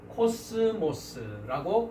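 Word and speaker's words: κόσμος: 그래서 이제 한 단어의 헬라어 단어의 예를 들어서 코스모스라고 발음을 하고 이 코스모스라는 단어는 우리가 세상이라고 성경에 한글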